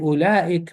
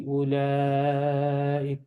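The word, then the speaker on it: أولئك: And ulaik mud will always be pronounced. Always. Why? It's in the middle of the word. It's in the middle of the word. It'll always be ulaik.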